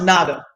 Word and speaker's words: Naga: It's really pronounced Naga. Oh, okay. It's pronounced Naga. N-A-G-A.